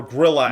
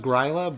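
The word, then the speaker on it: Grýla: gorilla at some point no it's pronounced greyla but it's you know it's funny for various reasons it's not pronounced well how's it pronounced it's pronounced yeah oh okay so they pronounce it greyla because they're like look guys we're not saying we're not saying gorilla I thought in in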